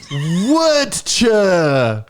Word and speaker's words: Werchter: IT IS ROCK WERCHTER. What does it mean? What does it mean? It's actually pronounced Werchter.